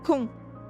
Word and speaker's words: con: The very rude version of "you're an idiot" or "you're a dumbass" is con. Tu es, you are, tu es con.